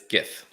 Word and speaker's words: GIF: It's GIF. Hard G.